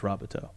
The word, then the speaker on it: Robateau: Oh, I will say I just found out today that it's pronounced Robateau.